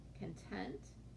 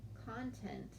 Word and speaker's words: content: exactly the same okay but they're pronounced differently and they have different meanings often it has to do with where we put the emphasis or stress of our word content is the emphasis is on the first part the first syllable content it's on the second syllable okay not always but